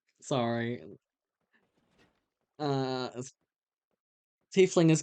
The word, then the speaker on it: tiefling: Oh, tiefling. Okay, sorry. Yeah, no, you're right. It is pronounced that way. I also called you're right. Tiefling. Sorry. Uh Tiefling is correct.